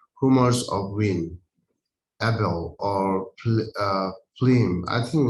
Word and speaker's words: phlegm: Humors of wind, Abel, or phlegm. I think like a how it pronounced?